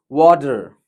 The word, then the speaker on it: water: We need not pronounce R. So here it's water, water, water. It's not water. It's not water. So let us keep in mind, take it as a tip. Wherever you came across R, just roll your tongue. You should pronounce R as if it is there or not.